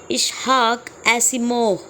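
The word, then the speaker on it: Isaac Asimov: और इसे लिखा है इशहाक सिमो इसका यही प्रोनाउंस है थोड़ा सा याद रखिएगा रशियन बॉर्न अमेरिकन ऑथर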